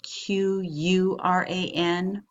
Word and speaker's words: Quran: may have seen sacred writing of this religion pronounced and spelled many different ways KO ra n or qura n or q you are ' aan well the